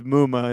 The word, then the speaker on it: Muma: How's his name pronounced? It's Muma, isn't it? Yeah, it's Muma. Mama.